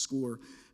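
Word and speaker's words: Scoir: used for the past several years is called score it's spelled s c i r but it's pronounced score um there are colleges visiting through that and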